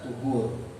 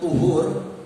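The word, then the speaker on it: طُهُور: Tuhur dalam bahasa Arab itu ada kata tohur dan ada kata tuhur. Ada kata tohur, tok pakai fathah, dibacanya tohur. Dan ada dengan tuhur, toknya itu pakai dhammah. Tuhur.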